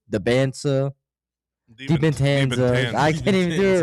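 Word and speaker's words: Dybantsa: DiBentanza. I can't even do it right. You said it right the first time. Yeah, you said it right, Bubba. You're supposed to say DiBentanza.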